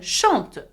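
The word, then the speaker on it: chantent: Now, though there is ENT, you do not pronounce the N and the T. You pronounce it as E, just like je, tu, il, elle.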